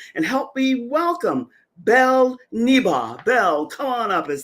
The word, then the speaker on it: Niba: right to it Belle and I love the pronunciation of your last name neba because everyone knows I have a hard time